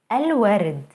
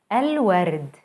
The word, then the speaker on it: الورد: الورد, الورد, the flowers. Notice how moon letters allow the L to be pronounced fully.